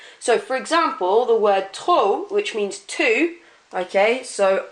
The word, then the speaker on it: trop: You don't pronounce that P at the end. It's not trop, it's trop. It's like that P isn't there, but it needs to be spelt with a P.